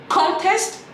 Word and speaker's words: contest: Et si vous mettez la mauvaise intonation sur la bonne syllabe, ça fait deux mots qui n'ont rien à voir. Je vous prends un exemple. Contest, contest.